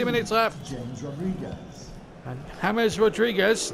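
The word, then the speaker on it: James Rodríguez: And James Rodriguez, not James Rodriguez, I should add. Substitution. And the PA announcer just saying it was James, but I can tell you he prefers his first name if it pronounced James Rodriguez.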